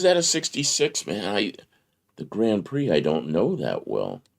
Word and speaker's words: Grand Prix: Is it a Grand Prix or the Grand Prix? Somebody's always got to say that. I mean, it has an X. The X is silent?